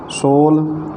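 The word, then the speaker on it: sole: सोल यस ओ एल E last में है, उसका उच्चारण नहीं किया जाता। उसके पहले जो यस के बाद ओ है, उसका उसी रूप में ओ का पूरा उच्चारण होता है सोल, जिसका अर्थ होता है तलवा।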